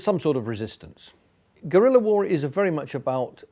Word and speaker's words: guerrilla: That's spelt Guerrilla, pronounced in Spanish guerrilla.